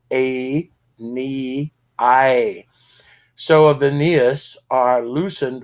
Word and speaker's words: Aeneas: of æneas notice a every syllable of æneas is long a knee I so of Aeneas are